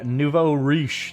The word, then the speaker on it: nouveau riche: uh the book of the nouveau riche that is how that's pronounced by the way it means the new